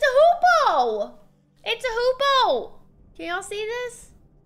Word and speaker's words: hoopoe: What's a hoopoe? What is that? I've never, what is that? What's a hoopoe? Oh, it is! It's a hoopoe!